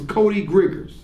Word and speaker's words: Griggers: Now, it's interesting, of course, his name was Cody Griggers. And it rhymes with the name he was calling our people. Isn't that something? Cody Griggers. And his name rhymes with what he was calling our people.